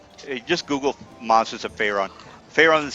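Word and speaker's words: Faerûn: monsters are in the monsters of fyon so uh and by the way Monsters of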